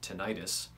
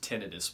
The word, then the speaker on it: tinnitus: It's pronounced tinnitus, by the way. Just pretend you're British and you'll nail it.